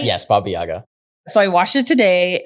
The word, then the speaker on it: Baba Yaga: Yes, Baba Yaga.